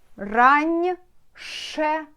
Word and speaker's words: раньше: A, R, A, N, after N will be мягкий знак, it means н, right? Раньше, ше, раньше.